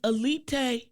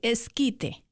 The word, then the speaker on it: esquite: But so is elite, is that Mexican food for real, or is that American Mexican food?